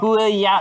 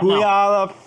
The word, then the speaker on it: Puyallup: It's like P-U-Y. Puyallup. Puyallup. Puyallup. Puyallup.